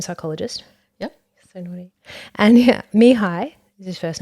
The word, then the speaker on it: Mihaly: And Mihai is his first name.